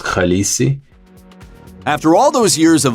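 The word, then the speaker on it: Khaleesi: So, I should have just respled it on my own and just said that the word is pronounced khalesi.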